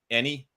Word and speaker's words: Ennie: That's the way I was pronouncing it, like the Emmys, except for so instead of an Emmy, an Ennie.